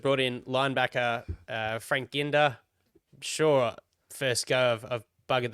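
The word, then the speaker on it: Ginda: in linebacker uh Frank Ginder sure first go I've buggered that up but at least I said it the same way twice Jack if fre can I believe it's Gina with a silent D actually oh that's good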